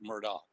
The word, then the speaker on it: Murdaugh: It's actually Murdaugh.